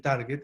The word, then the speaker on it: target: se debe bueno pues la forma correcta de decirlo es target es una estupidez pero eso no es parte de la clase solamente una anécdota pero se dice target porque en inglés las sílabas se rompen diferente a español en español una sílaba sería t a r así la batería desde ese punto de vista uno leería como target en inglés la sílaba se rompe diferente se rompe después de